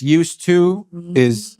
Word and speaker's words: used to: And this used to has a D in there, but the D is silent.